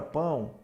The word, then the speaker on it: pão: pão tá na palavra pão Observe que esse o tem som desse u semivocal por isso que aqui é a vogal e aqui é a semi vogal Ok então em língua